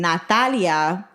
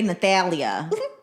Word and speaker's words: Nathalia: They'll say Nathalia. Yeah, they'll try to pronounce the Nathalia. And Nathalia. I'm like, the H is silent.